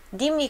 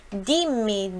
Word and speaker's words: dimmi: Dimmi, dimmi, olha aqui, nós temos dois M's, forte, som forte.